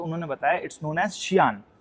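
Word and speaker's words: Xi'an: तो अगली बार से कोई बोल, क्योंकि मैं उनको जियान बोल रहा था, तो कह रही ये क्या है, तो उन्होंने मेरे से बताया। तो उन्होंने मेरे से बोला दिखाओ है क्या, तो मैंने उनको दिखाई वो स्पेलिंग, तो कह रहे इट्स शियान, ठीक है।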